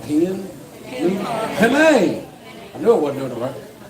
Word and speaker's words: penne: But this here's, I don't even know if I'm pronouncing it right. It's called Pigeon. Penne.